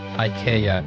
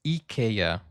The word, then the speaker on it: IKEA: Ia, guys, Ikea was born really. Um, so it's not IA, it's Eaya. Sorry, wrong pronunciation there.